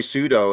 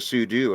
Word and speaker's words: sudo: say i also say pseudo instead of sudo and i know what super user do it's like technically sudo's more correct but i don't know